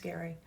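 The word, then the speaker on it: Gerry: It's spelled that way, but it's pronounced Gary.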